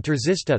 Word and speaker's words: trzysta: Polish words czysta, clean, f, pronounced with an affricate, t, and trzysta, 300, pronounced with a sequence, t, are an example of a minimal pair based on such a contrast.